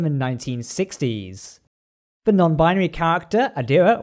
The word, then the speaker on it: Adira: The non-binary character, Adira, or Adria as I keep accidentally pronouncing it, is played by Blu